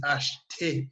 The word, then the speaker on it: achte: This is achte. You pronounce your T at the end.